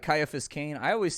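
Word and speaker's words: Ciaphas: then like you know there's no soft c in latin oh really well there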